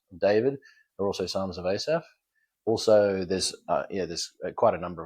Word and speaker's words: Asaph: People couldn't pronounce the PH. And so how the Asaph? They'd say Aspar and all sorts of weird combinations in between.